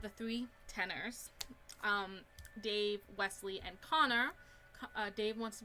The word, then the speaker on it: Wesley: on so next is westley or wesley not westley i wonder if your name is actually spelled westley if that's how you pronounce it but his is just wesley and bettencam okay and